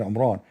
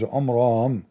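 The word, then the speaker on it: Imran: In fact by the way it's not even Omran. He could not even pronounce the word correctly. It is Omram not Omran.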